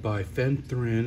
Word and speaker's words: bifenthrin: got that uh bifeprin I think that's pronounced by fenthrin I can never pronounce that word but it's bifenthrin 7.9 percent uh no